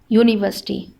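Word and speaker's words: university: लेकिन जब हम इसको प्रोनाउंस करते हैं, इसकी साउंड निकलती है तो पहली साउंड क्या है, य की साउंड है, और य किस में आता है, व्यंजन में आता है।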